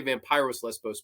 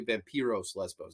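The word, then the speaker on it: Vampyros Lesbos: vampiros Lesbos or vampiros I always say vampirist let's post but it's actually vampiros Lesbos I think that's how it's pronounced in Spanish if any any Spanish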